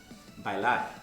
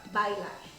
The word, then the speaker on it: bailar: And remember, I haven't said it yet, but to dance is bailar. Bailar. Bailar. Bailar. Yes, you really have to make the differentiation between the two syllables there. Bailar.